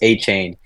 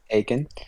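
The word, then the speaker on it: Achane: want his name he he doesn't want his name to be pronounced a chain it's like AE or okay I figur aen or something like that so I got Devon aen um I had Trevor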